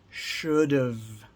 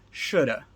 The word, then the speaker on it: should've: Should've. And sometimes when we're speaking very quickly, we actually pronounce it shoulda. Shoulda. But you should never write it like that.